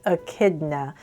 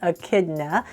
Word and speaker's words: echidna: you know that he is a uh it's pronounced Echidna but it's actually spelled e n c h i d n a but that is I would say in chidna right but it's actually pronounced Echidna hopefully I have that right I Googled it